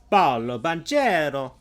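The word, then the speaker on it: Paolo Banchero: Paulo Banchero. There we go. That's how you say it. I keep thinking of him like as if he was Brazilian, but no, he's Italian American.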